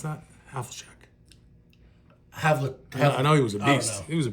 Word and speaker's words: Havlicek: Is that how you pronounce that? Havlicek.